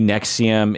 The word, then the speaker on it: NXIVM: to this the company Nexium and next if you're not familiar we're pronouncing it Nexium but it's it's spelled nxivm yeah like Roman numeral